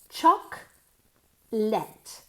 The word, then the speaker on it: chocolate: of all let's start uh working on the pronunciation okay CH chalk let chalk let okay chocolate Chate Chate no chocolate